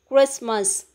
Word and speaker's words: Christmas: silent then the next one is christmas we won't pronounce the letter sound t okay then incline we